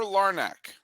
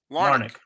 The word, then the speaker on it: Larnach: Trevor Larnach. Trevor, am I pronouncing that? This is the first time this is historic. I've never said this player's name out loud before. Did I say Larnach. it right? Larnach.